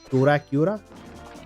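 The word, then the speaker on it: Dorakyura: it's a play on the Japanese pronunciation of Dracula, which is D-O-R-A, he's gonna turn red, which is D-O-R-A-K-Y-U-R-A, Dracula, is how you would say it phonetically for them.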